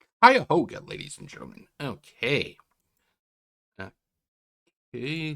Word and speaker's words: Cuyahoga: It's pronounced Cuyahoga, ladies and gentlemen.